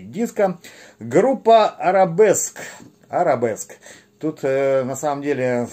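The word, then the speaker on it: Arabesque: Но считается это слово именно как арабеск в единственном числе. На диске, значит, перевод, соответственно, в русскоязычном чтении этого слова арабеска. То есть я сначала думал, что это как-то непривычно и неправильно, но вот почитал немножко информацию в интернете, оказывается, все-таки это арабеска, а в англоязычном произношении арабеск.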